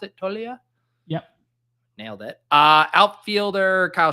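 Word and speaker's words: Toglia: Infielders, Mookie Betts, Austin Riley, Pete Alonso, Ozzie Albies, and Michael, how did you pronounce it? Tolia?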